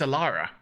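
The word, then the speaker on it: Elara: it yet um no my my name is aara aara aaraa with how do you spell it iara that's that's e l a r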